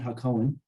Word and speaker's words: Hacohen: Just Cohen with a ha in front, Hacohen.